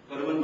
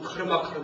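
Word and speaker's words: कर्म: 보통 카르마 하는데 그렇게 발음하면 안 된다는 얘기 했죠? 카르마 하면은 이건 줄 알아요. K인 줄 알아요. 카르마 하면은요. 그러니까 이제 이거는 K는 영어 발음 생각하면 절대 안 됩니다. 그냥 까 발음이에요.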